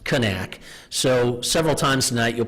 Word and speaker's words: Knaak: a little bit of the history of the Knaak family. And if you notice, one of the disclaimers I need to mention is for 15 years I've been calling them the Knaak family.